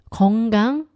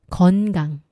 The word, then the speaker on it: 건강: 앞에 힌트가 일단 있었죠 바로 니은 받침이 지금 잘못 나왔어요 너무 듣기에 편안하고 내가 발음해도 이렇게 편안하게 했기 때문에 뭐가 잘못했지 하시는 분 계시겠지만 한번이 차이를 들어 보십시오 건강 건강 한강 한강 차이가 들리시나요 여러분 건강하세요 여러분 건강하세요 한강